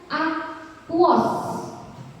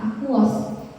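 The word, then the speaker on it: aqueous: Kemudian AQ, nah AQ ini dibacanya aquos, ya aquos, maksudnya senyawa itu larut di dalam air.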